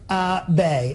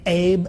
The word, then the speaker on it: Abe: prime minister uh honest AB that's how you say his name Tom AB you know for the longest time for the longest time I've been saying Abe VOD turns out it's